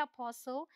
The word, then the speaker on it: apostle: The rule says T is silent before L. L से पहले आएगा तो silent होगा। देखिए यहाँ पर L से पहले आया, ये है apostle, bristle, bustle, castle, hustle, nestle, whistle, wrestle, thistle।